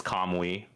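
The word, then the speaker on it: Kamui: Clamp and the main character's name is Kamwi, right? Oh, is that how you pronounce that name? I I always said I said come we no can we I said can we it's cutting out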